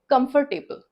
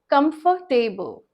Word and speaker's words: comfortable: Some people pronounce it comfortable, they pronounce the R very clearly, comfortable, but no, its pronunciation is comfortable, comfortable.